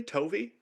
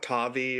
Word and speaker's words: Tovi: Tovi? Yeah. It's not Tavi or Tovai.